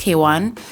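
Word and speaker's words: Kwn: Um, if you don't know who Kaywan is, she's spelled, her name is spelled KW N, but pronounced Kwan.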